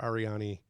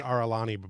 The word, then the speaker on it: Arani: Officer Mayor and Commander Arani Ambrose. It's like Orin with an I after it. Gotcha. Yeah, I kept saying Aralani before, so I'm trying not to say that now.